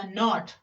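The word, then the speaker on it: knot: तो के एन ओ टी, के एन ओ टी, तो यहाँ पर के बाद जो है एन है तो के को प्रोनाउंस नहीं किया जाएगा।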